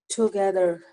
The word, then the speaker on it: together: Friends ran, rabbit running, together. Ending R sound nahi theek aa rahi aapki.